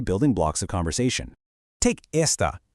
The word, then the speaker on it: esta: Take esta, pronounced e s t a.